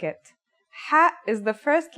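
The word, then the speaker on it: حاء: eating something very spicy the closest English counterpart to the sound is H the only difference is that it comes from a point deeper down in your throat just like this try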